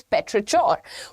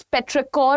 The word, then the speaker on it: petrichor: The first word is पेट्रिचोर. What is पेट्रिकोर और पेट्रिचोर? सी, there are 2 pronunciations attached to it. मैं personally पेट्रिकोर बोलती हूँ, but apparently the pronunciation is also पेट्रिचोर. इसका meaning क्या होता है?